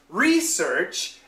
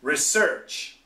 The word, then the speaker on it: research: And also, the most important thing is the intonation.